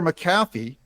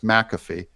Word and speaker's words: McAfee: Supreme Court Days Later maffy McAfee sorry I've had you guys correct me on the pronunciation of his name that it's McAfee and I I I